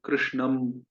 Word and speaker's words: कृष्णं: तो इस प्रकार से दो ध्वनि है। आप दोनों में से कोई भी चूज कर सकते हैं, कोई भी उच्चारण कर सकते हैं। जो दूसरी ध्वनि है वो ज्यादा सही है, अनुनासिक, नेजल वाली, जो म की तरह उच्चारण नहीं होता।